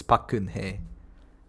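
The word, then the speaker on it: Park Geun-hye: It's a really difficult name to like pronounce it. It's Bakun He. Gun He. It's more like Geun Gun.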